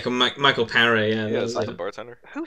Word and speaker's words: Michael Paré: Is that how you pronounce his name? Yeah, Michael Paré.